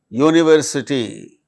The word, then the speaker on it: university: But in the case of the words like unit, unity, universe, university, they produce consonant sound.